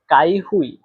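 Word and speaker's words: 开会: এখানে দেখেন কাই এই শব্দটাতে চাইনিজের এক নাম্বার টোন ব্যবহার করা হয়েছে। আর এক নাম্বার টন কিভাবে উচ্চারণ করতে হয় আশা করি আপনারা শিখে গেছেন। তারপরে দেখেন হুই। হুই এই শব্দটাতে চাইনিজের চার নাম্বার টোন ব্যবহার করা হয়েছে। আর চার নাম্বার টন উচ্চারণের নিয়ম হচ্ছে জোরে নিচে নামা। এটা উচ্চারণের সময় একটু জোরেভাবে ডাইরেক্ট খাড়া নিচের দিকে নামবে।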